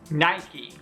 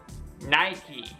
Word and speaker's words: Nike: one even native English speakers often make mistakes pronouncing this brand if you were saying it wrong before repeat after me Nike Nike Nike powerful force from Nike canvas another historical fashion